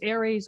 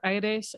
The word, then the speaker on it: ARES: Oxford University's Environmental Change Institute, was one of the founding co-directors of Arizona's Institute of the Environment, now known as ARES, or AIRES, as I like to pronounce it, and served terms as